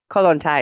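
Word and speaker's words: Kollontai: can't find it um Alexandra colon Thai or kolontai how do I pronounce her name colon tie is fine yeah Thai now why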